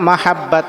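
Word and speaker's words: محبة: Alike মাহাব্বা আলাইকা মাহাব্বা আলাইকা মাহাব্বা এইযে মহাব্বা এটা হচ্ছে মহাব্বত। এখানে হা উচ্চারণটা এটা সুন্দরভাবে করতে হবে।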